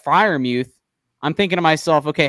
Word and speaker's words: Freiermuth: Yeah, and Sam, on your point about Freiermuth, or is that how you pronounce the name? Freiermuth? Freiermuth.